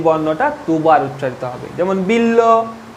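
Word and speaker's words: বিল্ব: উদাহরণটা দেখো, বিল্ল, আমি কি বলেছি, শব্দের মধ্যে যে বর্ণের সঙ্গে যুক্ত থাকবে সেই বর্ণটা দুবার উচ্চারিত হবে। যেমন বিল্ল, এখানে দেখো কিরকম উচ্চারণ হচ্ছে, বিল ল, ভালো করে উচ্চারণ করো।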